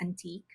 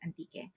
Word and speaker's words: Antique: Philippines it's called anti if you read it in English it's just antique okay but in the Philippines we call it anti we pronounce it anti and they they believe